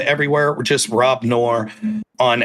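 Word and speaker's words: Noerr: Pronounced like the conjunction or the rice company that makes the the rice dishes, but spelled different.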